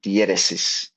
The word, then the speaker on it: diéresis: And the second one is this little 2 dots on the U, which is called diéresis. Those 2 dots, diéresis. And diéresis basically means, it tells you when to pronounce the U.